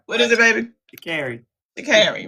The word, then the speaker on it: Sha'Carri: Sha'Carri, right?